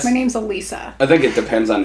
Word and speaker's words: Alissa: Because it's spelled Alissa. Yeah, that's what I thought. Yeah, but my mom was always like, no, that's how you spell Alissa. And I was like, that's not right. But Alissa is how you would think you would spell phonetically, Alissa. yeah, that's the right way to say it.